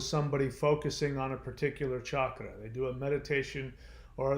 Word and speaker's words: chakra: and the chakras yes i said chakra not chakra it's not pronounced chakra it's pronounced chakra the chakras are the wheels